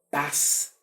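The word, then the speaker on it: πᾶς: cada uno en el griego que se pronuncia paz se pronuncia aquí la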